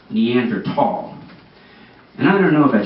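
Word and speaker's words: Neanderthal: this amazing exhibit it's on the neander falls and I'm like Mike hold on one second the words pronounced neander tall and I don't know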